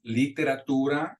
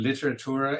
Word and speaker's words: literatura: One of the biggest mistakes that we hear English speakers or non-native Spanish speakers with their pronunciation is that vowel I, the E. So like in number 3, we'll hear people say, tomo también literatura y contabilidad. You want to make sure that it's literatura, and you got to